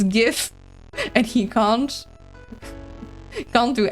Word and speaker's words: GIF: It's a G. You pronounce it like a G.